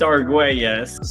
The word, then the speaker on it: Arguelles: It's Argues.